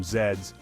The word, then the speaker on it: Z's: of Z's popularization though it's pronounced a little differently in many english- speaking countries around the world like the UK Canada and Australia there a tired person needs to catch some Zeds and a nap has even